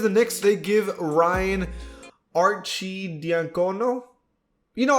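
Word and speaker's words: Arcidiacono: knicks they give ryan archie diancono you know i always said archanato but i guess that's not how you pronounce it but ryan gets a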